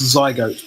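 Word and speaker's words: Zgoat: me check one sec that's pronounced zygote by the way zygote I apologies okay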